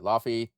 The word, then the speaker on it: Laufey: Yeah, Laufey.